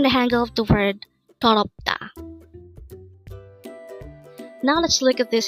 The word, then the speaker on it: 더럽다: 더럽다. Again, 더럽다. This is pronounced as a three-syllable word.